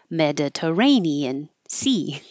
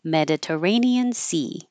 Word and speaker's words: Mediterranean: Stan with an a Mediterranean Sea Mediterranean Sea all of these will change let's say me stays Med du this T changes to a d r Mediterranean Sea parallel